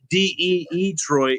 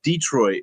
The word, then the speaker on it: Detroit: kept saying they're like it's not de trit it's Detroit like with one e and I'm like why